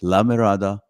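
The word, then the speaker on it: La Mirada: the contract that they have to say it correctly and I it's a lamirada theater for the Performing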